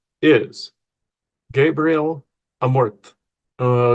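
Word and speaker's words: Amorth: the name of Gabriel Amorte. Amort I keep saying Amorte with like an accent at the end. Apparently that's not how it's pronounced. It's amort.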